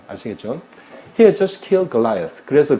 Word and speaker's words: Goliath: 영어로는 Goliath라고 발음하죠, 그죠?